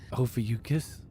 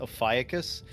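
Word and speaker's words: Ophiuchus: Ofucus. Yeah, it it's spelled like it looks like it would be pronounced aus, but apparently it's actually pronounced ofucus, which is a terrible terrible sounding word.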